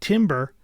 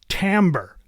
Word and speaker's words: timbre: pronounce this word but it is not Timber that's pronounced Timbre Timbre refers to the